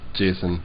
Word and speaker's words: JSON: choose to pronounce it definitely not Jason ion I pronounce Json Jason this is everyone's favorite